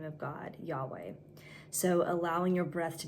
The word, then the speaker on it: Yahweh: When we say Yahweh as it's properly pronounced, it actually mimics a breath.